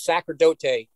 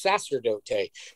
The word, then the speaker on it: sacerdote: i recorded it and i said it wrong because we thought it was sacrodote e diablo but it's sasterdote and we went listen